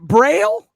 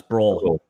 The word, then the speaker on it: Oehl: Is it Braille? No, it's Broll. Because it looks like it could sound like Braille. I don't see an A in there. But OEHL Braille. Bro, that's a bro.